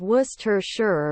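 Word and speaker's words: Worcester: pakan caramel Massachusetts werer the correct way to pronounce the word is wer sure or wer sure the CES syllable is entirely silent and you must skip saying all the r letters except the last one detrius corollary I always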